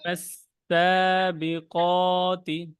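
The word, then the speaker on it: فالسابقات: ওয়ান নাজিয়াতি গরকা ওয়ান নাশিতাতি নাশতা ওয়াসাবিহাতি সাবহা ফাসবি ফাসবিকতি সাবকা ফাসসাবিকাতি।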